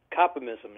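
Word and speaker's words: Kopimism: Is that how you pronounce it? Copymism, yeah, that's right.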